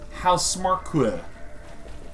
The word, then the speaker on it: Housemarque: Pretty sure I know how to pronounce the title of your studio. I, for many years, thought it was House Marquee, so there you go.